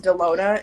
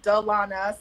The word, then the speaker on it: Dalona: high school because um my name is often pronounced Delona and so I phonetically spell it out on